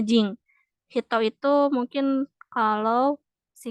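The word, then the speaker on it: 人: Jepang ya ini hitonya Bukan dibaca Hito kalau digabung sama kancil lain juga kalau digabung sama kanji lain biasanya Hito itu dibacanya Jing Hito itu mungkin kalau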